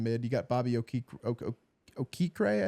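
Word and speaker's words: Okereke: you got Bobby OK okra I think is how you say it think it's okur and he's good okur yeah yeah that would makes sense uh yeah he's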